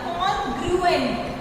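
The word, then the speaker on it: congruent: Pronunciation सही करना, कॉन्ग्रुएंट, कॉन्ग्रुएंट, कॉन्ग्रुएंट figures, कॉन्ग्रुएंट figures.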